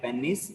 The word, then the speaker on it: penis: like normally uh regularly we call it like pennies okay but if you observed in movies or in the western dialects they call it as like penis okay both the both the pronunciation are completely fine okay urethra splinters remember